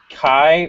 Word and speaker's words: Kai: And last but certainly not least, Kai, rhymes with pie. Did I get that right? You sure did. All Hi, right. everybody. I'm Kai.